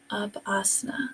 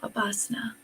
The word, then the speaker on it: Upasana: And it's Upasana. I said it wrong a moment ago. Upasana. Upasana.